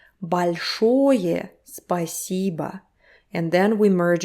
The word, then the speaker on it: большое: Большое literally means big. Большое спасибо. Again, vowel reduction. Большое спасибо.